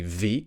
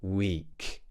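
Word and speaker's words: week: or something like that you might find that you pronounce your W's like a V and you might say ve instead of weak just make sure that you're making a nice small round shape with your lips w w w we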